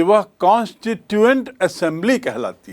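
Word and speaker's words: constituent: संविधान सभा को क्या कहते हैं? कॉनस्ट्टिटुएंट असेंबली कास्टिट्यूशन असेंबली नहीं दोनों की स्पेलिंग को आप तुलना करके देख लें। कॉन्स्टिटुएंट की स्पेलिंग है सी ओ एन एस टी आई टी यू ई एन टी कॉन्स्टिटुएंट assembly. Assembly यानी सभा। तो ये संविधान सभा यानी कॉन्स्टिटुएंट असेंबली कॉन्स्टिट्यूशन असेंबली नहीं।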